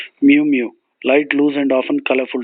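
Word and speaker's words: muumuu: and often colorful dress in Hawaiian is called Mew Mew m u u m u u mu mu light loose and often colorful dress a weak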